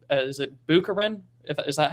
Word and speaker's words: Bukharin: Lenin and, if I remember correctly, is it Bukharin? Is that how you pronounce it? Bukharin.